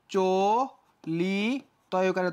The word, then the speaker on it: চলিত: এখানে ওকার হয়ে গেছে চলিত কি যুক্ত আছে ইত আছে তাহলে এটা কি হয়ে যাবে চলি তকারে ত চলিত মৃত কি যুক্ত আছে শেষে